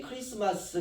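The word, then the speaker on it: Christmas: 있습니다 성탄절 우리가 메리 크리스마스 이렇게 인사하지 않습니까 사실은 그 메리 크라이스트 자가 묵음으로 처리가 됐습니다 메리 기 크라스트 그리스도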